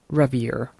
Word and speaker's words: Ranvier: To be honest, this gap here is called a node of Ranvier. Um or if you want to pronounce it in English way, it would be node of Ravier.